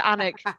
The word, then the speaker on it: Alnwick: I'm also going to say it's pronounced Alnwick. The L is silent, and people get really upset when you pronounce it wrong over here.